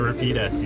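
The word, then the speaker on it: Rapide S: The Repeat S, yes.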